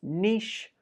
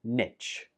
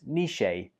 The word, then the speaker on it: niche: Number 16 has two pronunciations. It can be pronounced as niche or niche. Niche or niche. You can choose whichever one you prefer. But it's not pronounced niche. That's incorrect.